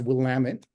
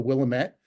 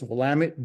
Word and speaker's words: Willamette: It's pronounced Willamette, and they will very quickly correct you if you're out there visiting and you call it the Willamette. They'll say it's Willamette, damn it.